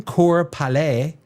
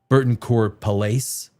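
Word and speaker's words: Cour-Palais: Donald Kesler and Burton Core Pale in French. You don't pronounce that S. Pale. I guess in North American speak it'd be Burton Burton Palace.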